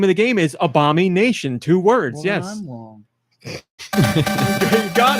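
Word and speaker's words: Abomi Nation: m i space Nation that's it how's it pronounced Obama Nation okay because you just said Abomination and that's why I got confused yes do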